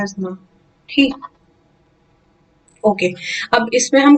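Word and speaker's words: asthma: अस्थमा नहीं कहेगा कोई, प्लीज इसे इज्जत बचा के इसको एजमा प्रोनाउंस करेंगे, ठीक।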